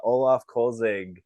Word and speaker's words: Olaf Kölzig: whole career a few games with Tampa uh Olaf kolzig if I'm pronouncing it correctly welcome to the show yeah